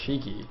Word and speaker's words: Ziki: Actually, I believe it's Shiki, that's how you're supposed to pronounce it.